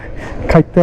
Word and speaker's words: খাটিয়া: পূর্ব এটা কিভাবে বুঝবো যখন ওদেরকে জিজ্ঞেস করতে হয় তখন বলতে হয় যে খাইতা ব্রিজ আর যখন আপনারা নিজেরা নিজেরা বলবেন তখন এটার একচুয়াল উচ্চারণ হচ্ছে খাটিয়া ব্রিজ খাটিয়া বললে ওরা আবার চিনে না দেখেন কোন দিক দিয়ে